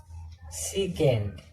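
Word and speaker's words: sec: और पांचवा है सीकेंट, इसको हम क्या बोलते हैं, सेक।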